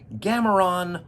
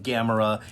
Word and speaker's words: Gamera: also interesting pointless coincidence gameron was an occasional mispronunciation of Gamera in the ktma episodes of Mystery Science Theater 3000.